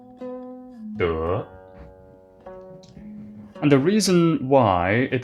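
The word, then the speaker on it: 德: This character, this word in Chinese, is pronounced de.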